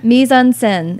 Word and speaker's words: mise en scène: Mise en scène. It's spelled Mise en scène.